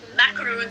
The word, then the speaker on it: macaron: who started a macro that's how the French pronounce it macaron store need in India